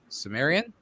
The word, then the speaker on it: Cimmerian: They will release the Cimmerian.